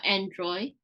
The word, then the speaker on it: Android: Android. Good. Make sure you get that D at the end.